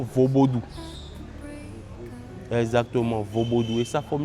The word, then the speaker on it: vodoun: Donc la bonne prononciation dans la langue locale font c'est plutôt vosodou.